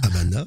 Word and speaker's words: Habana: Havana. Écrit Habana, mais prononcé Havana.